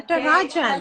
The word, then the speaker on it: Natarajan: Natarajan, yes, did I say it right? Yes, Okay. Natarajan.